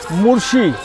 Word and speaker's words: मोर्शी: तो बस को 8.5 घंटे लगे हैं क्योंकि अभी 3:30 बज रही है मोर्शी पहुँचने में। ये मुर्शी नहीं मोर्शी है, पहले मैंने मुर्शी प्रोनाउंस किया था।